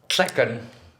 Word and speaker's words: Tlecan: Tlecan. Oh, Tlecan. Tlacan? In Nahuatl, Uh-huh. you know, Nahuatl, it ends in TL, but it's actually pronounced tl. Tl. So it's not tl, it's tl.